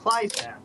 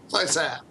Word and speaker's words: Kleisath: And our guests tonight are Stephen Boyer and Steve Kleisath. How do you say it? I'm sorry. You just told us 2 minutes Kleisath. Ago. Kleisath. Kleisath.